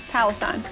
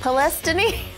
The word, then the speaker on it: Palestine: Palestine. I'm gonna say it's not Palestine. Of course it's not. Palestine.